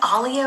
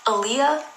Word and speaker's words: Alia: So you've been pronouncing Alia wrong? Oh, her name is Alia. How did you think it was pronounced? Aaliyah? Like the singer, Aaliyah? It's in my head, it's always been Alia.